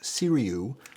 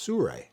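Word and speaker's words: Sirui: 7c I know it looks like it's uh pronounced siru but it's actually pronounced Sur when traffic on planes and so on I'll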